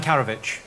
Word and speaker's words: Karadžić: Radovan Karadžić. Karadžić. Karadžić. Karadžić. Radovan Karadžić. I asked you how Radovan Karadžić did... Ditch. Ditch. Like, as in dead in a ditch.